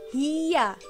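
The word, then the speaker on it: هي: laki-laki maka membedakan Hwa kalau perempuan menggunakan hias artinya Dia perempuan tulisannya hak dikasroh bacanya he ke mudian ditambah ia Fatah bacanya Ya Hia Oke Bisa ya Sekarang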